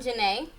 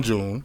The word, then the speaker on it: Juné: It's not June. It's not June. I got the accent over the E.